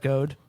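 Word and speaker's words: Gode: Would you pronounce that Goad?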